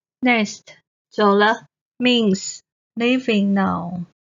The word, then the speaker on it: 走了: Next, 走了 means leaving now. 走 the third tone. The is the neutral tone.